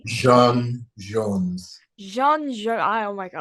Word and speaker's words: J'onn J'onzz: you get before I have to apologize, I said John Jones instead of John Jones. I'm And so I say because and this is the actual French equatorial Martian pronunciation. Oh, right. Jean Jones.